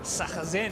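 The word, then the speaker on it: Sarrazin: Jason Bright and Stefan Sachazen, he told me is how you say it.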